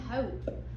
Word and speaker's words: hope: hop and hope both have the final sound because the E is silent.